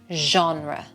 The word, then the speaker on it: genre: And this has French roots, so it's not a hard G. It's genre.